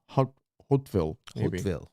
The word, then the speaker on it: Hauteville: the great-grandson of the Norman lord Tankred of Hauteville. Hauteville. It's Hauteville. I think we're pronouncing it right.